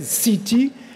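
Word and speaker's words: seetee: peut contrôler et utiliser la CETE, S-E-E-T-E-E, comme C-T prononcé à l'anglaise, CETE, contraterrène, la matière contraterrène.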